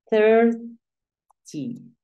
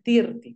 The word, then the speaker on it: thirty: Thirty. Thirty es el 30. Pilas no se pronuncia tirti.